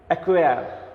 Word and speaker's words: acquire: ACQUIRE, অ্যাকুয়ার উচ্চারণটা। অ্যাকুয়ার রটা কিন্তু উচ্চারণ হয় না, এই জন্য ব্র্যাকেট থাকে অ্যাকুয়ার, অর্থাৎ আমি তোমাদের কিন্তু উচ্চারণটাও দেখাচ্ছি।